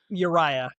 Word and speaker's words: Uriah: I wanted to make sure it's how I pronounce your name correctly. Uriah, which is, you know, at coffee shops I